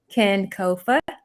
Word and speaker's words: kinkofa: say our name so the correct way to pronounce ken kofa um and that actually comes from a ghanaian